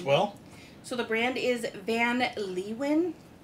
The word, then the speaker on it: Van Leeuwen: It was funny on their website. They give you two different ways to pronounce it, either the American way or like the German way. And I'm going with more the American way here.